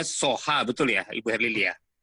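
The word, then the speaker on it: Soja: Ini bacanya Soha, betul ya, Ibu Herlili ya?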